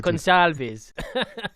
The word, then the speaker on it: Gonçalves: Yes, I learned how to pronounce it while I was there. I can see the smile on your face. Gonçalves.